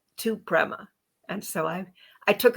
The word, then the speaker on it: Prema: us all about it Prima welcome to the show Prema Prema still said it wrong how to say your name correctly and what it means Prima is a Sanskrit word for divine love and it's a name